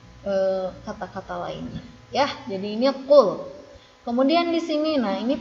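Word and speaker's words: قل: Yang pertama, ini jangan lupa bahwa ini huruf qaf. Huruf qaf bukan huruf kaf. Jadi dibacanya qul bukan kul.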